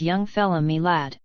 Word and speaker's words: young fella my lad: young fella my lad this curious phrase he pronounced as if it were all one word young fella milad yes we ve taken